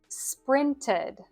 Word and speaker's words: sprinted: You could think of it like a short i sound plus a d or the schwa sound plus d.